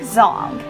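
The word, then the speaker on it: Zhang: Number 15, Frank Zhong. And yes, I'm finally pronouncing his name correctly too.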